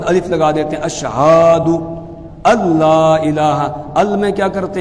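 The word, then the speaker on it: الله: بہت کھینچ دیتے ہیں، بعض کیا کرتے ہیں الہ میں جو ہا ہے بعد میں اس ہا کے بعد الف لگا دیتے ہیں، اس کو کھینچ دیتے ہیں، وہ غلط ہے۔ صحیح تلفظ یہ ہے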